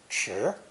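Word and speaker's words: 池: to form a pond pronounced second tone cheer sure this is also a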